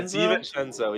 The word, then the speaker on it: DiVincenzo: Yeah, DiVincenzo.